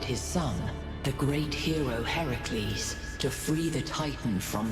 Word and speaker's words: Heracles: hul no Heracles ah Heracles is Hercules but Hercules is the Roman pronunciation there you go but